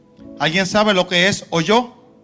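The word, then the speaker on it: holló: ¿Alguien sabe lo que es oyó? No es de oír. H o l con acento en la vamos.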